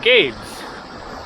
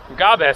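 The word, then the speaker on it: Gabès: This is the Gulf of Gabes. So Gabriel, also called Gabe, I guess it is actually pronounced like Gabes, something like that.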